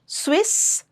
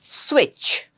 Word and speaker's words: switch: It's not Swiss, it's switch. Switch. Ch. Batch.